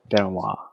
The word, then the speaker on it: Benoit: nicely kicked by benoit how do you pronounce it ben wood or benoit benoit this is the french last name if i'm not mistaken that's how he pronounces it too you know who chris